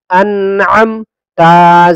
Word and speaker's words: انعمت: حمزہ نون زبر ان، عین میم زبر عم، انعم، تا زبر تا، انعمت. فا زبر فا، حمزہ لام زبر ال، فال، ہا زبر ہا، فالہا.